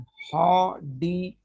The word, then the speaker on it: Hordeolum: लेकिन इसको प्रोनाउंस ऐसे किया जाता है, इसको हा पढ़ा जाता है, HAW, हा। हा। आर साइलेंट है, उसके बाद फिर डी।